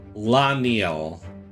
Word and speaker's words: Laniel: Okay, I've been mispronouncing this. It's Laniel.